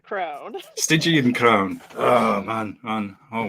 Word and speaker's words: Stygian: the band you just told me how to pronounce it correctly as well and it's evaporated already San stigan Crown stigan Crown oh man man oh well uh work